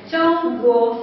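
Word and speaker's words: 中国: ¿Lo pronunciáis, güey? ¿Cómo? Chong. Chong, con un T con un S. Chong, guo, ¿no?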